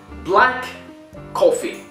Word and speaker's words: black coffee: So if we have two consonants, okay, K, C, together, one in the end, the other one in the start, as you see it on the screen, we don't pronounce the both of them in the conversation when we speak.